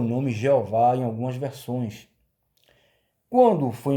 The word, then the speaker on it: Jeová: Ao passar do tempo, com o surgimento da letra J, né, esse nome Yehová foi aportuguesado, né, para o nome Jeová. Agora você está sabendo por que em algumas versões vem o nome Jeová.